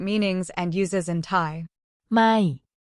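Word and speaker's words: ไม่: or not in English it's pronounced with a falling tone so your voice goes down slightly when you say it it is important to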